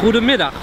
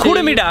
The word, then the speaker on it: Goedemiddag: Goedemiddag. Goedemiddag. I'm saying it right? Yes, you say Goedemiddag. You're pronouncing it super, super good.